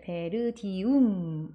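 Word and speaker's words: Verdium: 해보실까요 intelligent intelligent 잘하셨습니다 다음은 베르티이라고 읽어야 될 거 같지만이 아파트 이름은 베르디움 되어 있고요 원래는 ver이 이렇게 나누시면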